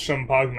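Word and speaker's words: Champagne: It's Champagna obviously like lasagna but Chapagna.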